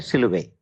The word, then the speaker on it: silhouette: silhouette actually uh the it's a French name somebody's name silhouette is somebody's name surname actually The French people do not generally uh pronounce the last uh t last word t they generally don't uh uh so it